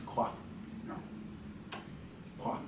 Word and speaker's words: Mkwa: So that's how the word Mkwa came to be. Mm-hmm. He taught me in the dialect from up in Wiki area, you don't pronounce the M, so it just becomes Kwa. Kwa.